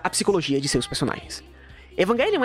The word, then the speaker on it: Evangelion: A propósito, é Evangelion, não é Evangelion, certo? Se você lê em japonês, o tequinho aqui tá escrito Evangelion, tá? A pronúncia certa é essa, vamos se lascar.